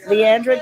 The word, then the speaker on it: Leandra: I have Leandra, I keep saying her name wrong, Leandra Jackson here with doTERRA essential oils.